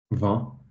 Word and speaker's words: vin: Vin?